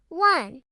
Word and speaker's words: one: Listen to the sound one. It starts with the W sound, which is a consonant.